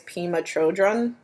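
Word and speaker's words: Pema Chödrön: I think the way to pronounce her name is Pema Chodron. I could be totally wrong, but she's the Buddhist,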